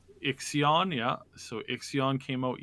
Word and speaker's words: Ixion: We've got a new game that just dropped yesterday, and I keep pronouncing this wrong. It's like basically a Frostpunk in space. Ixion? Called Ixion, yeah.